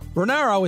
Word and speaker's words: Ranauro: I will spell it for you. It's Bill, B-I-L-L. Renauro is R-A-N as in Nancy, A-U-R-O.